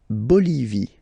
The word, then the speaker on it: Bolivie: La Bolivie. Okay, final not pronounced.